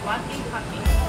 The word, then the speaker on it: Tlaquepaque: Preston, how do you pronounce the name of this lovely village? Tlaquepaque.